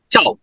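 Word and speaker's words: 兆: লাখ কোটিকে কি বলে চাও চাও এটার উচ্চারণ মর্নিং এর মত ঝাও হবে না না যাও না চাও চাও এই ক্যারেক্টারে কি বলে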